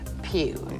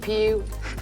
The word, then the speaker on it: Pugh: Virginia Wynette Pugh. Now, did I ever go through harassment in school with Pew?